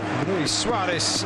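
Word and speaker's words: Luis Suárez: Luis Suarez, rather, in the Uruguayan pronunciation, heading back across goal, off target on that occasion.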